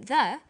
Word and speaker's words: the: When the comes before a vowel sound, we say the apples. So the before vowel sounds and the before consonant sounds.